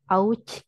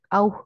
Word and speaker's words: auch: Jadi tidak usah dibilang ouch gitu, tapi auch gut gitu ya.